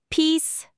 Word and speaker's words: peace: Peace maker 여기서 중요한 건 피스의 e 소리 i 발음이죠. 우리말 2보다 입술을 양옆으로 좀 더 당기고 길게 소리내는게 포인트래요. 짧게 피스 이렇게 안 되게 조심해야 하고요. 한번 따라해 보세요.